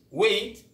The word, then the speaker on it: weight: signature move to gh gh is silent when it comes after a vowel example thought who data